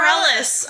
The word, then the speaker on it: Bareilles: Yeah, Sarah Bareilles.